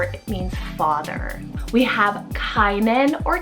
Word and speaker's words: Kainan: We have Kainan or Canaan, spelled K-A-I-N-A-N.